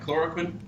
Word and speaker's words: chloroquine: Chloroquine?